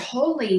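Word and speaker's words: Holi: And then I discovered holy, which is really in line with all of that. Holy is spelled H-O-L-I, and it takes place on the first full moon in March.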